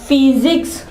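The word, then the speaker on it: physics: ठीक है इसके अलावा फिजिक्स फी फी सिक्स यहां पे देखिए फे की आवाज निकाली फे की फिजिक्स साइंस का एक सब्जेक्ट होता है।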